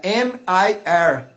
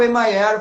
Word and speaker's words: MIR: M-I-R. Aí eles estavam me chamando assim, lá o Emayer vai tocar, o Emayer. Aí eu, não, gente, é Mir, Mir mesmo, é uma sílaba.